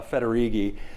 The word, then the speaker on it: Federighi: your disk or something it's pronounced roughly like this uh federigi um if you forget it you could say fettuccine when i was uh